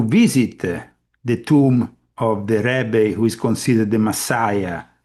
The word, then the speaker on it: Rebbe: Rebbe is Rebbe, not Ribbi.